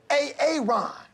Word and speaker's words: Aaron: you say it the first time I said a a Ron because it's pronounced Aaron you're done messed up Aaron